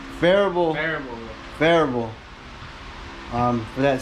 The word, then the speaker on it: Phearable: Farable. Farable.